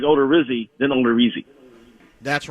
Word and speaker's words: Odorizzi: Because I thought I heard members of the Twins radio network call him Odorizzi rather than Odorizzi, which I think is awful if that's his real pronunciation. It should be Odorizzi.